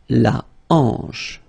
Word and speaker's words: hanche: La hanche, remember, H here is not pronounced, so you get the sound en, hanche at the beginning.